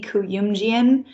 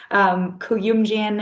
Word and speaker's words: Kuyumjian: So, hey everyone, my name is Kuyumjian. That'll be the first lesson, is all of them learning how to say my last name. Kuyumjian, it's phonetically spelled.